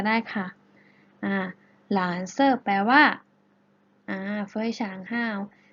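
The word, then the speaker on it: 蓝色: ฟ้า ใน ภาษา จีน เรา จะ พูด ว่า หลาน เซ่อ หลาน เซ่อ หลาน เสริม นัก เรียน ออก เสียง ให้ เรา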